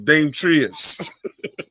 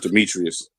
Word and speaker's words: Demetrius: Dame Trius. No, it's Demetrius. That's I think it's Demetrius.